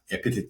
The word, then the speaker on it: EpiTET: important part of our discussion your company uh epit theraputics right am I pronouncing correctly yes yeah um so tell me